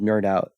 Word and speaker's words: KnerdOut: a youtube channel called nerdout and his channel is spelled nerd out with a k so